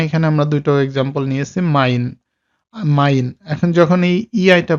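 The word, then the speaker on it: mein: এখন এইটার উচ্চারণটা হয় হলো আই এর মতো, বাংলায় হলো আই।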